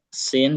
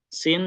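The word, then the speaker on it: س: Kalau sin sebagaimana sehari-hari kita S aja, sa, si, su, ya, siti, atau S pada umumnya kayak kita di bahasa Indonesia.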